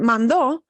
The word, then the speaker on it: mandó: But I automatically know from somebody shifting their stress that mando is a past tense. So even though they're spelled the same, the shift to that accent mark being on the ending o tells me automatically, I automatically know, oh, somebody means past.